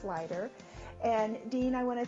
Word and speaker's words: Sluyter: And I just want to let you know his last name is spelled Sluyter, but it's pronounced Sluyter.